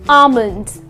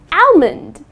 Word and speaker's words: almond: Many people tend to pronounce it as almond. I would like to eat five almonds. That's incorrect. The correct pronunciation is almond. Okay. Almond. Okay. So, the L is silent.